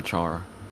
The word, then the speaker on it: Chara: loved car and flowey you say car or Char I said Cara yeah I think that's just how I first heard it pronounced so I think that's just why I do it but I encouraged Char so I say Chara yeah undertale is so